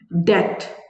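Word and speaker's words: debt: यर brother paid his डेट डेट कज सो B silent डेप्ट नहीं बोलना डेट ठीक है क्वेश्चन मार्क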